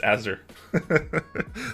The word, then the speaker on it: Azure: there it's for now it's pronounced azer thanks man i pronounce